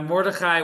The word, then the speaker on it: Mordechai: Now, Mordechai, when we pronounce it, we say it with kind of a lot of stuff. A lot of words that you hear, we kind of slur. So this is Mordechai.